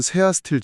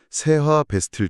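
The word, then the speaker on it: 세아베스틸: 원자료에서 약간 옷하나 잘못된 발음으로 테라비스트 지주 혹은 세아스틸 지주 이렇게 막 표기되기도 했는데 정확한 명칭은 세하 베스틸 지주입니다.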